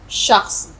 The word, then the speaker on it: شخص: شخص. بالکل ٹھیک تلفظ ہے، یعنی کوئی ویکتی، کوئی بھی شخص ہے.